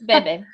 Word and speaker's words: Bebe: are very say be have I been saying it wrong this whole time no I think it's Bebe um it's however it's like